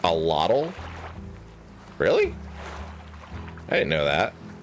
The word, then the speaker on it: axolotl: The word is pronounced allotl.